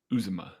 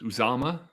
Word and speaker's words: Uzomah: Matty, you called him CJ Uzomah. It's Uzama.